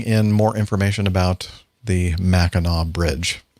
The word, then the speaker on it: Mackinac: more information about the mackinaw bridge i'll never ever pronounce it mackinac liz how are we